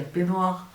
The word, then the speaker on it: peignoir: Dans la vraie vie, je dis un peignoir. Mais j'aime appuyer sur un GN. Parce qu'il le mérite, d'accord?